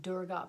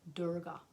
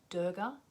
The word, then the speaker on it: Durga: And I say Durga because I've been taught there to say it properly, and that's how they say it, Durga. Like normally we might say Durga, D-U-R-G-A, Durga. I'm just doing what I'm told.